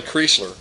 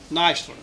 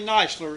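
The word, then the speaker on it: Kneisler: that you mentioned grandson of Tom CH Kelly kler and uh had the opportunity actually that's Kelly nler oh I'm Sor it's supposed to be k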